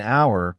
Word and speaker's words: hour: For example, an hour, because the H is silent, so the word starts with a vowel sound.